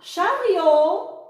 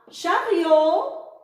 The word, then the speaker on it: chariot: Un chariot, le T muet, un chariot, rio. Une brioche, brio. Ben, je répète, un violon, viol. Une pioche, pion. Une radio, dio. Un chariot, rio.